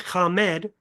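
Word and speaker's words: חָמַד: The word is pronounced kamemed in Hebrew and that is strong number H2530.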